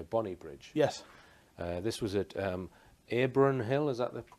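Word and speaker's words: Abronhill: This was at Abron Hill, is that the correct pronunciation?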